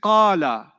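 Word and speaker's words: قال: When I say qala, how many syllables did you hear? Qala. 2 syllables, isn't it? That's 2 syllables. Sometimes some verbs, some past tenses are 2 syllables. They're not 3 syllables. They're 2 syllables.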